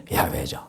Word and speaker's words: 야훼: 나는 여호와 너의 하나님이니라 야외 히브리시고 본 음으로는 야훼죠 우리는 하나님을 섬기고 있어요 그리고 우리에게는 경전으로 받은